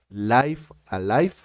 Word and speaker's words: Live A Live: de un juego que voy a pronunciar como Los japoneses que lo crearon dijeron que se pronuncia Life Alive es un remake y